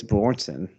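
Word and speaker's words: Björnsson: I'm gonna mispronounce his name. Hop for Julius Bjornsson, the Mountain.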